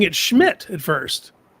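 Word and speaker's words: Szmyt: It's pron pronounced schmidt. Oh my god, they were right. Those letters you get schmidt out of that.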